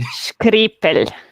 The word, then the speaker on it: Škripelj: Škripelj. Škripelj. Škripelj. It's kind of Italian, almost. I mean, we are close to Italy, but no, it's pronounced harder than that.